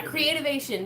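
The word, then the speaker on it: Creativation: Phoenix Arizona in January called creative vision Cree creative ation yeah creative ation that's how you say it right on he but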